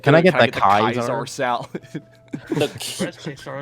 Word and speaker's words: Caesar: Blame Fallout New Vegas for the way I pronounce Caesar. It's Kaiser. Kaiser.